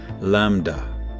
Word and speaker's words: lambda: This acceleration appears to be driven by the repulsive energy of space itself, so-called dark energy, which is represented by the Greek letter A, pronounced lambda.